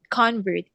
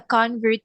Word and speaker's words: convert: First one is convert. He is a convert to Buddhism.